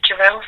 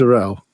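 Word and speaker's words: Durell: Welcome to Durrel Software.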